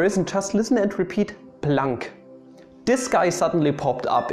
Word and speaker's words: Planck: dong max carl ernst ludwig blanc so don't pronounce his name as planck most people just say blank constant for example